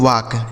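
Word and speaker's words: walk: डब्ल्यू ए एल के इसे पढ़ते हैं दोस्तों वाक। ठीक है? वाल्क नहीं पढ़ेंगे। यहां जो एल लिखा है ना यह साइलेंट है। यानी इसका उच्चारण नहीं करना है।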